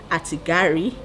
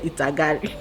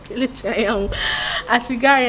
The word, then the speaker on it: Atigari: And the next person is Elizabeth Atigari. This is the first time I'm pronouncing her surname well. I'm always saying Itagari. Atigari, and she's a mom tuber in Port Harcourt.